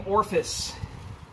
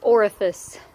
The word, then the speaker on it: orifice: so through the same orphis is that okay to say orcas its orifice oh it's a three syllable or Ruffus it's an extra I but okay or office